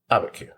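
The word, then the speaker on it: Abiquiú: which would be, when I wrote how to pronounce it, is Abaku? Abaku.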